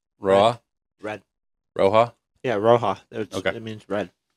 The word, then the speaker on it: roja: Did I pronounce that right? Roja?